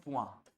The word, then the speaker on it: point: को हम बोलते हैं पुआ, POINT। जो इंग्लिश में होता है ना पॉइंट, वही साउंड, वही स्पेलिंग है पुआ, बोलिए पुआ।